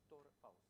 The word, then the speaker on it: Tora Faust: So, correct pronunciation is Ima Tora Faust.